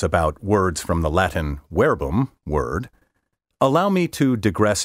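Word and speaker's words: verbum: come from the latin wherebum word by the way wherebum is spelled v-e-r-b-u-m but in classical latin v is pronounced like w from the latin wherebum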